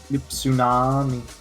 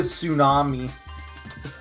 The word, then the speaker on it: tsunami: there i don't know why there's a silent t it just makes no sense but there is that's english like imagine if it was called the tsunami why is there a